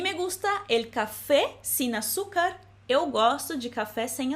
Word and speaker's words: azúcar: não tem alguma coisa, e açúcar se escreve com a letra Z. Lembrando que é o mesmo som de S, açúcar. A mí me gusta el café sin azúcar.